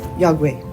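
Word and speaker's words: iakwe: And now I know how to say it, "Yagwe."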